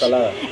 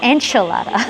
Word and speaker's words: ensalada: How do you say salad in Spanish? Ensalada. Ensalada. We're gonna have Ensalada. Ensalada? No, ensalada. I think he says enchilada. No, I said ensalada.